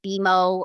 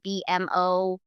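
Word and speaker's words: BMO: Um I want to make sure that like we've pronounced the brand correctly. For example, you know, um like the perfect example is like Beimo, right? A lot of people will say BM O for example.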